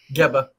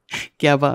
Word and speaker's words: Geba: Geba. Geba.